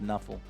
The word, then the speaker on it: Nuffle: it NFL if you if you pronounce NFL it's Knuffle uh so because you